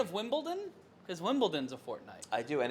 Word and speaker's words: Wimbledon: Because Wimbledon's a fortnight. I do, and it's pronounced Wimbledon, not Wimbledon. It's Wimbledon. My There's a D in it.